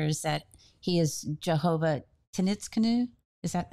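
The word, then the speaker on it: Tsidkenu: learn throughout scripture is that he is Jehovah Tenitzkenu. Is that how you pronounce it? He's our banner. Sidkenu, yeah. Sidkenu, he's our banner.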